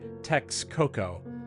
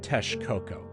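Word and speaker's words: Texcoco: and Aran Cortez also these words are not pronounced meika or Tex Coco but rather mesika and Tesh coko some of these words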